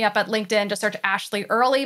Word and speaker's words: Ashleigh: at linkedin to search ashley early my name is spelled a little weird because i'm a little weird it's a-s-h-l-e-i-g-h and then early like early in the morning and links to all